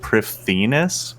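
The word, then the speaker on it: Prifddinas: it's like, I think it says that it should be pronounced like Prifdinus with like a TH, even though it's not spelled like that at all.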